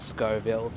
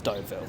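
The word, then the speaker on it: Stouffville: dooville a few times it's not Scoville it's not stvil it's stov Ville I was just walking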